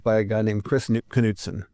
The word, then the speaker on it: Knudsen: So the arm on the guitar, that was developed by a guy named Kris Knudsen. He pronounced the K, and then was refined and manufactured by the Larson brothers.